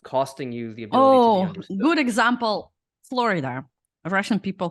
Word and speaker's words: Florida: you oh good example Florida a Russian people call it Florida good example yeah I understand what you mean like Florida yeah people from Eastern Europe usually call like Florida and it's actually Florida yeah yeah and oh